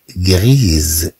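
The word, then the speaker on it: gris: لا جوب غريز، لا جوب غريز، إذا نتكلم عن التنورة رمادية، غريز رمادية. طبعا في المذكر نقول غري، في المذكر نقول غري غري. إذا نقول مثلا أوازو غري، أوازو غري، إذا نتكلم عن طائر رمادي.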